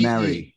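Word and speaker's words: Marree: I don't know how you guys pronounce it, but it's Maori man or Mary man. Yeah. It's M-A-R-R-E-E. Mary.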